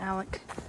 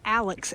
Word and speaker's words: Alex: So we were saying it wrong. It's the Alex, A-L-E-X, Kennedy shelter, and has a fire